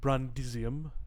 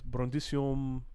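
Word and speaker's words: Brundisium: then so and so instead of saying brandisium uh it's brondissium it just sort of fades off but this in fact you don't even hear the ium really as you pronounce it just sort of runs together um that's how fluent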